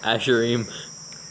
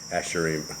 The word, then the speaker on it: Asherim: Asherim. Asherim. Okay. comma. Let's see. Is it? Yes. It's spelled Yes.